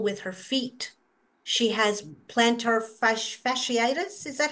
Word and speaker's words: plantar fasciitis: She has plantar fasciitis.